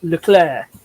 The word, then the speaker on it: Leclerc: the pronunciation right. It's Leclerc. Leclerc.